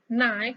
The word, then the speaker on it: knife: Next, dua kata berikutnya, high dan knife adalah silent, ada mengandung unsur silent letter, yaitu high, silent letter G, dan knife itu silent letternya adalah K.